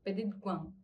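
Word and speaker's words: petit coin: así dice, significa e la forma, así se pronuncia, peti cuan, que significa rinconcito o lugar pequeño.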